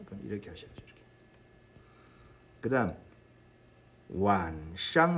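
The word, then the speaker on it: 晚上: 그런데 선생님이 지금 발음하기를 완이 아니라 완 했습니다. 완. 이것은 이게 사성이 아니라 반삼성이라는 그런 이야기예요. 반삼성은 성조 표시를 삼성으로 합니다. 그럼 이렇게 하셔야죠. 이렇게. 그다음 완샹 할 때 샹은 어떤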